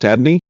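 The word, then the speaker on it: Adonai: in Hebrew both being 86 as noted above pronounced Adney as already explained in the previous chapter the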